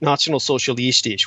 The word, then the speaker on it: Nationalsozialistisch: The Nationalsozialistisch, which is the correct pronunciation for the National Socialists, they were essentially very much an occult movement.